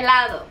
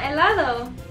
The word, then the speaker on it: helado: Helado. Oh, wow. No. Helado. Gelato. Close. Ice cream. Yeah. Really? Yeah, helado. Why is there an H? Why is there an H? It's so silent.